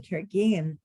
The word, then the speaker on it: Carignan: And you were talking about old vine Carignane, if I'm saying it right. Carignan. Carignane. Say it again. Carignan. Carignane. Either Carignane or Carignane. You'll hear it pronounced as both.